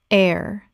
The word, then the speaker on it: heir: Here or hair. Correct pronunciation. Air. The h is completely silent. It sounds exactly like the word air.